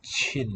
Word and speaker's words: 沁: and this first one, Chin, I believe, is a name of a river, if I'm not mistaken. EP for that one. Don't know of it in any words. Soak, yeah, pronounced chin, fourth tone.